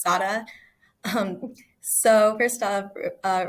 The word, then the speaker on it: Sara: color is green and I'm Puerto Rican so that's why my name is pronounced Sada um so first off